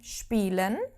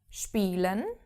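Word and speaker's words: spielen: same goes for SP if a word starts with an SP as in spelen spelen to play SP is SHP if we have it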